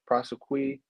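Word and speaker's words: prosequi: I believe that's a prosequy I believe that's how you pronounce it it's n-o-l-l-e-p-r-o-s-e-q-u-i basically the prosecutors are um not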